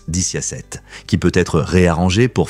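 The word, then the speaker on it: diciassette: En italien, 17 se prononce diciasette, qui peut être réarrangé pour former le mot vixi, signifiant « j'ai vécu », une phrase associée à la mort.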